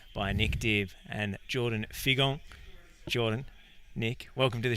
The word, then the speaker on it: Figon: Yeah, well, in Creole it's actually pronounced Figon, but in English it's Figon.